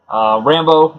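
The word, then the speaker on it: Rambeau: Rambo is like a kind of a militant-looking guy, but he's also a Ram. So it's spelled R-A-M-B-E-A-U. And it was kind of like Rambo.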